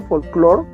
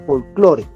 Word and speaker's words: folclore: maneja así es decir leyendo la del castellano no con la pronunciación del inglés cierto folklore como sería en este caso sino su lectura en lengua castellana folclore eso sería lo primero